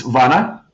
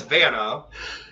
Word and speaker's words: Vana: In America, it's Vana, but my last name actually is Czech, so it is Vana if you pronounce it the way it should be pronounced in the language that it was made in.